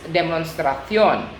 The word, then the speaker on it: demostración: So we just need to change it in CION with an accent on the O. For example, demonstration in English, but in Spanish it's demostración.